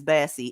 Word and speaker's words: Bassey: I shoot you not his last name is Bassey it's almost spelled like Buzzy but with an A okay this [ __